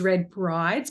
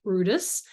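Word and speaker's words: Bryde's: the significance of Brutus whales or which is red Brides but actually pronounced Brutus feeding in these areas in fact it was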